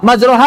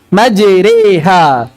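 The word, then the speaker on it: مجريها: Majroha dibaca muyyilat. Dan imalahkan majroha. Menjadi apa? Majriha. Dalam surat Hud ayat 41. Majriha. Dan ini masih banyak sekali berustadz pun yang masih membacanya majroha.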